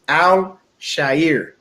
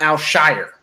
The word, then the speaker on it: Al-Shaair: And everyone out there, his name is Al-Shaair. It's not Al-Shire, okay? It's not S-H-I-R. It's S-H-A-A-I-R.